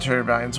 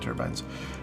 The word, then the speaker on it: turbine: course our uh wind turbines wind Mills I've been playing a lot of Astron here so I keep calling them wind turbines or turbin however you prefer to pronounce it they're both correct you know um and